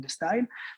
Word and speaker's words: D-Style: je nomme la collection d style le le D de la lettre D mais qui en anglais se prononce aussi de comme si vous aviez le style donc de style mais aussi le D